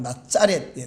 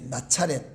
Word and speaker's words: 나사렛: 나사렛, 원래 발음은 나짜렛, 나차렛.